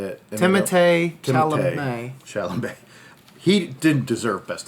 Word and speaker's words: Timothée Chalamet: Timothée Chalamet.